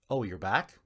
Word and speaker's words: Oyurak: And one man in this Inuit tribe named Charlie Oyurak, pronounced "Oh, you're back?" Oh, you back?